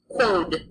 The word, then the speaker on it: quod: A QU makes a qu sound like quarter, quod in Latin.